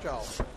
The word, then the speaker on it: Tso: there from Rex CH back pronounced the CH we've been told but spelled TSO we've had quite a time